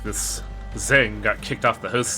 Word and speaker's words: Zhang: Zhang is pronounced like a cross between Zheng and Cheng.